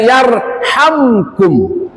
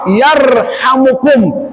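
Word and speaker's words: يرحمكم: Maka dibacanya yarhamkum. Tapi ternyata kata ulama boleh dibaca rafa yarhamukum dan itu lebih utama.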